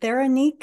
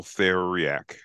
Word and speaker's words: Theriac: Her name is, and I believe, is it Theranique? Am I saying that no, correctly? No, it's Theriac. That's how you pronounce her last name.